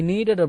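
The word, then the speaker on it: kneaded: ஐ நீடட் அப்படின்னா K silent, சரிங்களா? ஐ நீடட் அப்படின்னா நான் பிசைந்தேன்.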